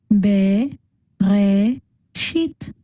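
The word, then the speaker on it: בְּרֵאשִׁית: So again, since the bet is the first letter of this word, the shva is vocal, so together they make be, which is the first syllable in this word. The next syllable is re, and the last one is shit. So altogether we get be, re, shit, bereshit.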